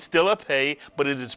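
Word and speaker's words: פ: Without a dagesh, the Pei is pronounced as an F, and therefore we call it a Fei.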